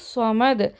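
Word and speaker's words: صمد: ஸ்வாத் is here. Scene கிடையாது, that's wrong. ஸ்வமது ஸ்வாதோட sound தான் வரணும்.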